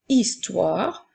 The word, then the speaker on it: histoire: faire une ensuite dans le mot histoire le son i s'écrit avec deux lettres la lettre H est une lettre muette donc nous avons le son